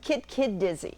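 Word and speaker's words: Kit-kit-dizze: Now, I'm guessing on the pronunciation. Is it Kit Kit Dizzy? Kit Kid Dizzy.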